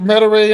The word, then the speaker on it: Metairie: The Oscar Metairie and all, yeah, you're right.